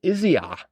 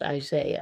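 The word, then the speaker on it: Isiah: The answer is Isaiah. Isaiah. Isaiah. It's spelled I S I A H. Yes. It looks like it's Izziah. I know, but it's pronounced Isaiah.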